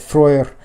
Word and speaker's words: Freyr: It's said that Freyr, or Frey, as many of you know him, in Old Norse, the EY makes an ui sound like in buoy.